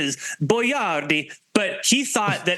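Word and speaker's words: Boiardi: the proper pronunciation is boardi but he thought that as an Italian that people wouldn't be able to pronounce his name in America in the 50s so they went with boy Rd are we going to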